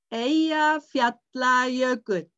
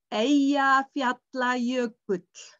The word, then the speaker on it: Eyjafjallajökull: It was the eruption in Eyjafjallajökull. Eyjafjallajökull.